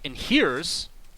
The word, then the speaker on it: inheres: Rank inheres, and by the way, I'm not mispronouncing this.